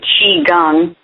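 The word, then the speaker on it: qigong: q i g o n g but you pronounce it Chi gang so and then coping techniques which you um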